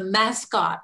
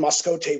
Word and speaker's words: Mascotte: Mascotte is how it's pronounced, which means mascot.